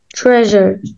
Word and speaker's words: treasure: اه يبقى ما ينفعش اقول تريجر زي ما كنت بقول هنا، لا هنا اقول تريجر treasure treasure اللي هو الكنز measure measure measure يعني